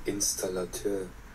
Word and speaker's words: Installateur: আসল উচ্চারণটা শুনে আপনি ওইটা অনুকরণ করার চেষ্টা করবেন। Installateur. ইনস্টলেটর, Installateur.